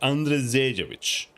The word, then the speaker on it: Andrzejewicz: You have to pronounce the R like an RE or something, like Andrzejewicz.